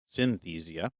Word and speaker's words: Synthesia: any research on Synthesia which I think we actually were mispronouncing because I think we're adding an extra syllable in there I think it's just Synthesia so this episode is